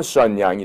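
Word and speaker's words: 沈阳: 중국 발음하면 션양이 되죠.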